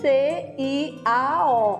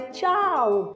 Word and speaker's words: ciao: E amiga, não é ciao não, é tchau. Aí daí foi que eu senti a necessidade de começar a estudar um pouquinho, para entender o básico do italiano.